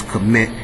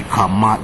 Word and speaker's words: Kemet: They telling all y'all is Kemet, and it could not be Kemet. It would have to be Kamat, which makes sense if you knew what Ka meant and what Mat meant.